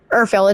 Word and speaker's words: Urfael: Am I pronouncing that? Urfael, it's Urfael.